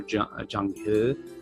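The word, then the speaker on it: Zheng: this gentleman in paricular Jang as it's pronounced correctly in Chinese he he's uh was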